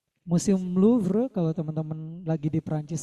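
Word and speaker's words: Louvre: Bacanya LVre gitu ya. Museum LVre.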